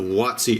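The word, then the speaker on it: WotC: going back to the watsi era watsi is wtc it's basically giving a pronunciation to an acronym wtc stands for wizards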